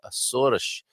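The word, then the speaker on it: Açores: she's saying hi from these asuras there's the right pronunciation i'm saying people are saying the azores um there beautiful um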